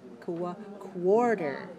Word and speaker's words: quarter: quarter one quarter teaspoon when we have q u in english it's pronounced like together quarter quarter and finally we can